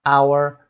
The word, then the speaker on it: hour: برای 5 تای اول صدای air برای کلمه air rule the letter H is almost always pronounced H. Common exceptions air, honest, honor, hour, exhausted و rhythm.